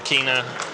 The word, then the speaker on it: Kina: uh winning the Olympics in Kina or sorry in China was the Danish pronunciation for for China yeah beating a Chinese